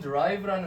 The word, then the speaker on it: derive: derive라는 것은 derive라는 건 드 발음이 나는데 얘는 무슨 뜻이냐면 유래하다라는 뜻입니다.